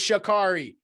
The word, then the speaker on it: Sha'Carri: She's fucking, somebody mispronounces her name. She's like, it's Sha'Carri. Like dude, she's the fucking boss. I love Sha'Carri Richardson.